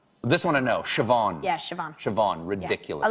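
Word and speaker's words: Siobhán: Uh how do you think that's pronounced? This one I know. Shavan.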